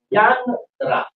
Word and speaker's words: янтра: Ян-тра. Так что в данном случае -тра, очевидно, всегда означает «инструмент для»; Ян-, на самом деле, исходное слово — Ям, просто по фонетической причине произносить Ям-тра неуклюже, поэтому получается Янтра.